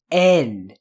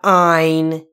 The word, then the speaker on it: N: Just N. No, Jordan, not ein. It's not German, it's N.